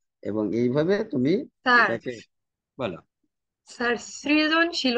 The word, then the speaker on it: সৃজনশীল: রসিকায় উভয়ের উচ্চারণে রসিকায় তাই আমরা সৃজনশীল উচ্চারণে এরকম করে লিখবো সৃজনশীল দন্তস র ফলা রসিকার যদি কেউ এই র